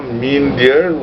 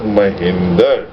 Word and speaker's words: Mindear: is your banwashi baba mean dear which is which has been mispronounced as my Hinder and this is the